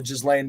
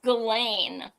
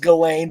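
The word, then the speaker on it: Ghislaine: Uh which is the uh more on the Jizlain Maxwell. Uh you always say it wrong. It's Galain. I know it's pronounced Galain, but I prefer Jizzlane because I disrespect her.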